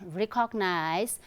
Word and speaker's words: recognize: I keep telling my students, it's not recognize. Often you find or you hear people saying recognize, recognize. It's not recognize, it's recognize, okay, recognize, right? I repeat, recognize and not recognize. Recognize is wrong pronunciation or incorrect pronunciation. It's recognize, right?